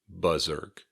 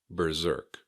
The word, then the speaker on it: berserk: Some people might also say something like buzzerk, and that's also okay. Berserk.